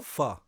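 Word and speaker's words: Phở: Pho. So it's Pho.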